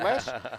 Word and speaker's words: Las: sorry in las vegas people still say loss i don't know why it's pronounced less but the world still